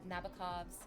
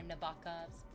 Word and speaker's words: Nabokov: And it talks about Vladimir Nabokov's or Nabokov's. I think you can pronounce it either way. I think it's okay either way.